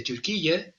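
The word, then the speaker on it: Türkiye: febrero del 2022 la guerra en Ucrania desde turqui y digo turqui porque así lo quieren sus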